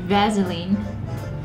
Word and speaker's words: Vaseline: know this breath okay Vaseline but where do you see a Z vaseline vaseline so easy you